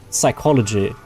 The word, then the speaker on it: psychology: um Because when when when a word starts like with P like psychology, the P is silent for you guys.